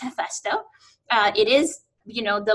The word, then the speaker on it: HeFESTO: so you know so I would pronounce this F esto right because we don't aspire RH so but you know sort of combination of English and so on this is pronounced F esto it is you know the Lord or the